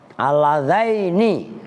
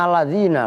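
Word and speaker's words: اللذين: Aladzaini begitu bacanya, ntar lu bacanya aladzina lagi udah disimak.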